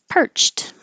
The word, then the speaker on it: perched: exit either way perched this is an ed that sounds like a t because the final sound in the word perch is chch which is voiceless so then it looks like Ed but it sounds like the voiceless T perched the bird perched